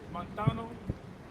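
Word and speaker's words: μανθάνω: That word learn in the Greek is montano.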